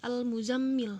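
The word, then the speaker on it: المزمل: nih itu dibaca jelas atau ini al-muzzammil hai all hai muzammil hai awalnya itu dibaca jelas dipakai dibaca jelas dzohir ya atau ini udah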